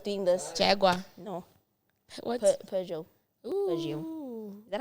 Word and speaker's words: Peugeot: Peugeot. Peugeot. Is that how you say it? I would have said Piguet.